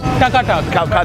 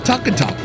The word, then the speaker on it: taka-tak: This place has it all, from modern comfort foods to more adventurous options, including something they call taka tak.